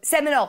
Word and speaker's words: Seminole: correctly simile semele quoting Semele patchwork I know Seminole Seminole that's a Seminole quilting Hanna says I